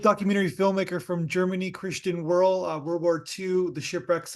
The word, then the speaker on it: Wehrle: Yeah, in German it's Wehrle, but Yeah, I think yeah, that's only in German. only in German, and then Yeah. the rest of the world they just call you Wehrle.